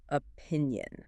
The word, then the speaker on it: opinion: The key word is obviously opinion. Right. And it has 3 syllables. Opinion.